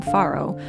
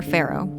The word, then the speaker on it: farro: thought today we would try some farro or farro. I've heard it pronounced both ways.